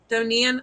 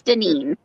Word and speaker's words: Deneen: Donine? I'm sorry if I'm saying that wrong. You say it like Janine, but it's Deneen.